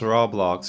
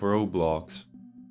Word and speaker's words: Roblox: Another thing of note is the use of an O with a macron in the old logo, which indicates how to pronounce the name, as some might say it as Roblox instead of Roblox.